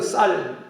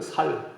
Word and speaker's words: 쌀: 테스트도 받고 그랬습니다 근데 우리 경산 사람들은 살 살 그래 쌀이라 그러지 않고 그런 식으로 갈릴리 사람들이